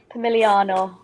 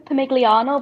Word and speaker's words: Pomigliano: here, I was like, I play for Pomigliano, but apparently you don't say the G. So I was saying it wrong. It's a full 2 weeks. Yeah, silent G. I like it. Always get done by the silent letters.